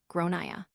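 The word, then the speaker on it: Gráinne: and I said well in Ireland they typically pronounce it like gronia her face went red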